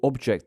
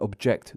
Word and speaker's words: object: stressed as a verb take contest the noun and contest the verb or object the noun and object the verb subject the noun and subject the verb convict the noun and